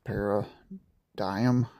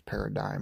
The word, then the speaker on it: paradigm: So, anyways, we got a nice decent amount of solar on this paradime paradigm. I always say it wrong. Somebody's correct me. I say parodymium and it's paradigm, I'm pretty sure.